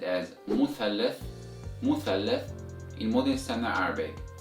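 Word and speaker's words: مثلث: However, in Egyptian Arabic dialect, this word is pronounced as musallas, musallas with the S sound instead of Th sound. So it's musallas instead of muthallas.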